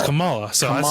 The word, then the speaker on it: Kamala: Kamala gives me very much Scary Mom vibes at times.